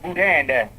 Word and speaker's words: boudin: That's pronounced Boudin.